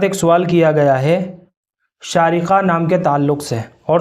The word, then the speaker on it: شارقہ: دیکھیے، شارقہ نام بچی کا رکھا جا سکتا ہے اور بہت اچھا نام ہے، لیکن اس کا جو صحیح اور درست تلفظ ہے وہ بڑے شین کے ساتھ ہے۔ شارقہ، آخر میں بڑا قاف